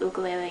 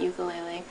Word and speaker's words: ukulele: And for those not from Hawaii, it is pronounced ukulele, not ukulele.